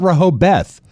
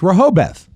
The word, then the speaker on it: Rehoboth: It's spelled Rehoboth. It's not Rehoboth.